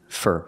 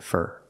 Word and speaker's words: for: eating steak for dinner pronunciation fur fur for dinner the word is not stressed we pronounce it fur he's eating steak for